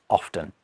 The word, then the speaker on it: often: In fact, I think a lot of the time I say often.